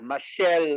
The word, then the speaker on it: Mashele: hold on hold on let me tell you how to pronounce my surname yes my name is my last name is pronounces you know the mashal michelle marshall yeah that's how it's pronounced yeah michelle okay yes